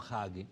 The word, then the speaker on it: Hagee: esa mezcla extraña entre fundamentalistas cristianos tipo John Hagee, se escribe H-A-G-E, Hagee, está él en San Antonio.